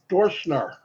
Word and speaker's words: Dorschner: Dorschner, that's how you say it, Jeff Dorschner, welcome.